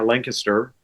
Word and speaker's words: Lancaster: Lancaster. And again, you said it right. Did you hear that, everyone? He said Lancaster, right?